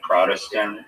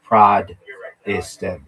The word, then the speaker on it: Protestant: Well, they pronounce it with like a D though.